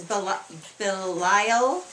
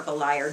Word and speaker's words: Belial: It says Belial or Beliar, depending on how you say it.